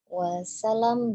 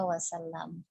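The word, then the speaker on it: وسلم: Nah, tadi Umi membacanya wasallam gitu ya. Jadi lamnya tidak bertasydid. Padahal penulisan wasallam itu sampai kapanpun ia akan bertasydid ya wasallam.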